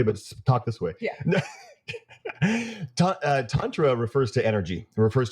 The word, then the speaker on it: tantra: I'm going to pronounce it tantra, tantra. So tantric yoga, but you can say tantra.